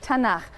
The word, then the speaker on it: Tanakh: Tanakh, which is really the letters T, N, and Ch. And they put little A's in there to make it easy to pronounce, because is hard to pronounce.